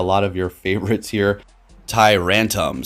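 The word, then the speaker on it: Tyrantrum: Rantam. So kind of a rhymes with tantrum, I guess.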